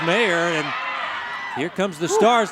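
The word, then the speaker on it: Meagher: Ann's name is spelled M E A G H E R, but it's pronounced Mayor.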